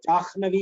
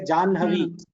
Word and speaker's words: Janhavi: Same way for Janhavi. What do you say? Jahnavi you should not say. You should say Janhavi.